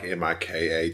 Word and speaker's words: Mikhail: It's spelled Michael. Whatever. Mikhail's like Mikhal.